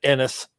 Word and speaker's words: Ennis: enos without the p i think texans uh pronounce it ennis texas yeah and then uh i think we